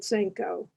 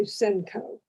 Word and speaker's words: Senko: while but i don't i just picked up the way my dad pronounced it senko and then my both my brothers decided that no they were gonna americanize it and say senco interesting because that doesn't